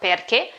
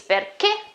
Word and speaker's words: perché: Okay, obviously the accent at the end of the word, sorry, means that I have to emphasize, okay, that the stress is at the end. Perché? It's not perché, it's perché.